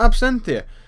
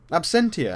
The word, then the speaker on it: absentia: scares in check out absentee and um absentia i keep saying it wrong i don't know why